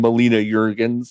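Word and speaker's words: Melina Juergens: I think he said Melinda Jurgens, which I think almost everyone missed because we were still recovering from Harrison basically being like trying to note out of the situation. But he definitely said Melinda Jurgens, and I think you pronounce her name Melina Jurgens, I believe.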